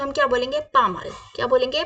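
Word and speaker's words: pas mal: बोले कभी नॉट बैड तो हम क्या बोलेंगे पा माल क्या बोलेंगे पा माल पा माल ओके सो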